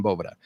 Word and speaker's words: Boveda: yeah almost like the V is another B yeah and it is Spanish for Vault the great part of